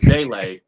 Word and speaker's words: Vele: I've been mispronouncing it for a while, but Vele, wow.